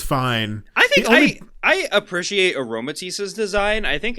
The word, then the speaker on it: Aromatisse: It has aroma in it. Aroma and then tease. Aromatisse.